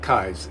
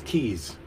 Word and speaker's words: Keys: I found out it's not Kai's. His name looks like it's meant to be funny, like Kaiser Soze? Kaiser Soze. But I guess his name is Keys, and it's spelled Keys.